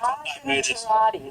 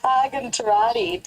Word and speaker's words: Argentirati: Argan, how do you say it, Greg? You're right. I'm going to get it for you. Argentirati. That's it. Argentirati.